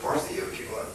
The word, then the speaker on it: Porciuncula: John Welborn will give it Porciuncula, to say it correctly.